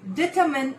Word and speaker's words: determine: There is no mine. Determine. No, that is not right. Determine. Determine. Yes. Determine is the right pronunciation of this word.